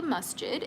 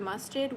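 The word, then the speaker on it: masjid: So a Muslim church is called a masid. It's spelled M A S J I D.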